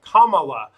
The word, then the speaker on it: Kamala: on fox good scene said her name is pronounced ho like ho i'm joking he said comma like the polenta asian ma kamala replied that saying someone's name correctly is kind